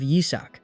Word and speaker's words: Isaac: Mine flashes back to how his demon minions always mispronounced his name, calling him Isach instead of Yizak.